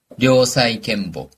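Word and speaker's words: 良妻賢母: 코에라고 읽습니다. 또는요. 재밌는 것도 있어요. 우리는 현모양처라고 하는데 일본어로는 료사이켄보.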